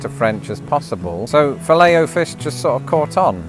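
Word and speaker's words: Filet-O-Fish: In America, it's pronounced fileo fish the French way. With a lot of French derived words, I do like to try to get the pronunciation closest to French as possible. So, fileo fish just sort of caught on.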